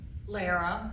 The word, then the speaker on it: Lara: Aaron Allen, Curtis Ray, Lara, rhymes with Sarah.